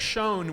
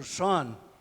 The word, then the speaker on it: Schön: Hendrik Schön was a young physicist at Bell Labs in the United States. O Schön, e acabei de ser corrigido na pronúncia.